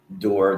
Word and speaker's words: Dorr: Like the way you pronounce Dorr with the umlauts is different than Dorr the way I pronounce it.